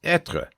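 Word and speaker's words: être: simply translated as is the way to pronounce etra is etra.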